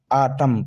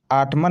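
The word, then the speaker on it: autumn: देखिए example, आटम, ए यू टी यू एम एन, ठीक है, तो यहाँ क्या है, एन साइलेंट है, आटम पढ़, आटम है, ठीक है, बल्कि आटमन नहीं है, आटम, ठीक।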